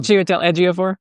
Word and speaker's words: Chiwetel Ejiofor: thing with, and I can never pronounce his name correctly. Oh, um, Chiwetel Ejiofor?